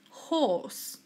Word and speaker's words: horse: hippo horse horse again we don't mention the letter R okay so it is horse insects insects all insects